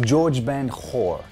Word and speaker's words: Jorge Ben Jor: Rob Stewart didn't deliberately steal Do You Think I'm Sexy, but he openly admits to subconsciously plagiarizing Brazilian artist George Ben Hor. It's spelled with a J, I swear.